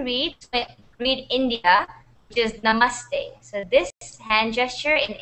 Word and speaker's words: Namaste: we are It's pronounced Namaste, like T-E. Namaste.